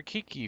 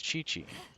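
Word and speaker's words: Qiqi: I pronounced it for Kiki for the longest time, but apparently it's Chi-Chi. I am forced to believe you.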